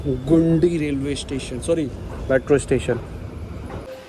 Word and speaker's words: Guindy: इस स्टेशन का नाम है गिंडी और मैंने उससे बोल दिया गुंडी। उसकी स्पेलिंग ऐसे है GUINDY, गुंडी। तो मैंने उससे गुंडी बोल दिया। वो कह रहा है नो नॉट अ गुंडी, गिंडी।